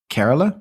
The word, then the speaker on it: Kerala: Is that how it's said? Kerala? Yes. Yeah.